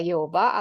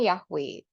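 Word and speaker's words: Yehovah: e o i gitu jadi eh lafalnya adalah pengucapannya adalah Yehova atau yehuwi dan bukan yahwe nah kemudian kita lihat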